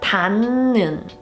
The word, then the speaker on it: 닿는: When the 받침 Hieut is followed by a ni은, a nasal sound, then the Hieut is pronounced like a ni은.